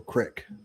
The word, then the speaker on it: creek: Do you say Creek or Crick? I definitely don't say Crick because that's a Midwest thing.